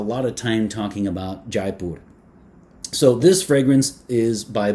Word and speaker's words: Jaipur: So people usually will say Jaipur in English to approximate the French pronunciation of this. It turns out that Jaipur, which would be the pronunciation in Hindi, is an Indian city